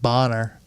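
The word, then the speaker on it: Bahner: It's spelled B A H N E R. So, I'm going to just call him Blake Bonner.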